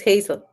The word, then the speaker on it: Hazel: Spanish but in English is it Hazel or do you still pronounce it Hassel no it's the same is Hazel okay so you pronounce